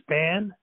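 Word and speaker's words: Spahn: Warren, I guess his name is pronounced Span.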